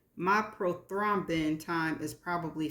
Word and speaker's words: prothrombin: And this is how it is pronounced. Prothrombin. I know I didn't say that. Prothrombin. Prothrombin.